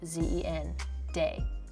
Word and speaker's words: Zendaya: Zen z e n day d a y a. It's very phonetic and a lot more boring than I bet you thought it was.